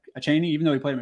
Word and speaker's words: Achane: Let's say, like I predicted, Mostert, Wilson said, they say Devin Achane, I don't know how to say his name, Achane, even though he played him a shit ton in college.